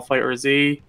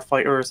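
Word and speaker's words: FighterZ: Sorry for people who are offended, but Because in case I said the game's name wrong, instead of saying Dragon Ball Fighters, I said Dragon Ball Fighter Z because that's how some people are saying it.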